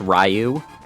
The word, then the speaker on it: Ryu: megan i know that his name is pronounced ryu does this version have roll yes